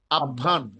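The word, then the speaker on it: আহ্বান: তাহলে হ এর সাথে ব যুক্ত হয়ে আহবান আসে। তাহলে এটা উচ্চারণ হওয়ার কথা আবান। উচ্চারণ হওয়ার কথা কি? আভান।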